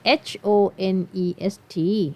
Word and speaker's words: honest: เข กด อะ สิ คำ นี้ ไม่ ได้ ออก เสียง เป็น H นะ คะ ไม่ ออก เสียง เหอะ